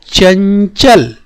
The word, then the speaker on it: चंचल: तो देखिए इस ध्वनि का, ये जो पंचमाक्षर ध्वनि है, य, य, य, य का उच्चारण इसमें हो रहा है, चंचल, चंचल, चंचल। ठीक है बच्चों, तो यहाँ पर आप देख पा रहे हैं इसमें इसका उच्चारण हो रहा है चन, चन।